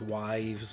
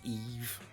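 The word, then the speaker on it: Yves: be a trade for Eve Belanger that's how you say that name in French it's not wives or anything like that it's really pronounced Eve 27 years old goaltender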